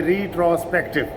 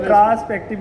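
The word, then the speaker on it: retrospective: नहीं, कोई बंदे वो ट्रांसपेक्टिव ना बोले, रिट्रोस्पेक्टिव।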